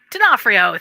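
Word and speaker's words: D'Onofrio: I loved Vincent and I always pronounce his name wrong uh who's Vincent from Law and Order Vincent it's not for you dinofrio thank you I don't know why I can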